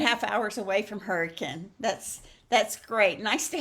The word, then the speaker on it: Hurricane: have you here um are you anywhere near Hurricane West Virginia because one of my dear friends is uh hometown is Hurricane West Virginia so uh it's spelled like hurricane but they pronounce it hurricane so anyway here is one of the cards